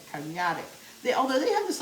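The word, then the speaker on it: Karnıyarık: So it looks like Karniyarik, but when I listen to somebody in Turkish say it is Karniyarik. I think I got that right. Karniyarik.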